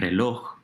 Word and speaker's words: reloj: Papel, paper, and reloj, clock, are 2 other examples of aguda words.